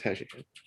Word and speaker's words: HCAT: Spelled HCAT, pronounced HashiCat.